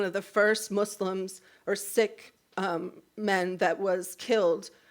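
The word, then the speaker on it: Sikh: She is an activist um and a civil rights attorney and she's of the it's actually sick instead of seek at least how she pronounces it.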